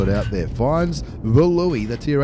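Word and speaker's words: Löwe: Finds the Louis, the Tier 8 Premium German heavy tank. We know it's pronounced Luva, but I don't want to sound like one of those people who's pronounced...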